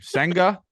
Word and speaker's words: Senga: Senga.